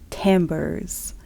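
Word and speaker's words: timbre: become aware of the tambers which is how timber in music tends to be pronounced claiming that this is because it's French even though say tber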